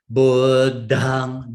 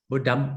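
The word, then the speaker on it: Buddhaṃ: You cannot close. If you close, it will pronounce like budam.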